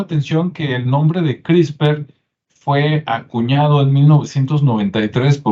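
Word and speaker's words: CRISPR: una que es crisper se escribe CR y spr y se pronuncia crisper Y usted puede investigar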